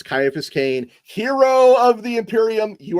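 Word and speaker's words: Ciaphas Cain: Morningington Crescent says, "You pronounced the name wrong. It's Kaiaphas Kane, hero of the Imperium."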